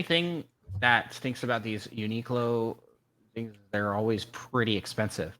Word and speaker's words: Uniqlo: Uniqlo. Uniqlo. Uniqlo. Oh, that makes a lot of sense now. Like unique clothes. Like unique clothing. I get it now. Yeah, the only thing that stinks about these Uniqlo things, they're always pretty expensive.